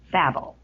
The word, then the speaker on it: Babel: It's Babel. It's like from the Bible.